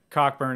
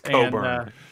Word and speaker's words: Cockburn: but their center kofi cockburn is also a really good player it's coburn coburn yeah that you pronounce it coburn apparently you the ck is silent where's he from anyways